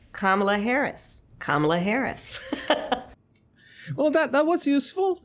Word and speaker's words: Kamala: So many people, I myself included, I used to pronounce Kamala Harris wrong, but it's because I pronounce it the Spanish way, and now I pronounce it the English way.